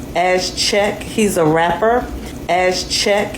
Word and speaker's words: Chike: And the user responded under with, "I almost thought you were Nigerian, so I was pronouncing it as GK." And he responded with, "You're not wrong. Lol. I just Americanized it.